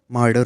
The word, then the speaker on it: martyr: तो जो ये अगला वर्ड है इसका प्रोनाउंसिएशन मर्डर होता है, ठीक है। मर्डर, MARTYR। जो टी है वो डी के जैसे साउंड करता है थोड़ा सा, ठीक है।